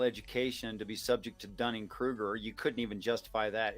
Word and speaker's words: Dunning-Kruger: It sounds like a wee bit of Dunning-Kruger. Am I saying that right? Am I getting the phrase? No, that's the right way to say it.